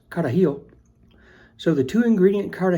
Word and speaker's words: carajillo: two ingredient caragillo or in the native tongue I'm sure it's pronounced carahill so the two ingredient